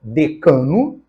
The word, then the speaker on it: decano: Na letra E, decano, é paroxítona, está perfeita.